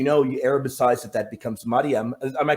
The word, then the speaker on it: Maryam: which, as you know, you Arabicize that becomes Maryam. Am I correct with that? Yep. That is how you pronounce it.